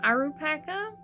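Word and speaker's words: アルパカ: But they also do go by Alpacasso, which I think is derived more from the katakana symbols for the word alpaca, pronounced Arupaka, I believe.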